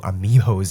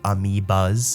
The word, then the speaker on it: amoebas: all of the new amiibos he has. I just called them amiibos by accident, but they're actually called amoebas.